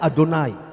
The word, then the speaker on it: Adonai: Makanya kalau ada yang bilang Yahweh, Yahweh, sebenarnya salah, karena itu huruf mati. Dia orang Yahudi bacanya Adonai.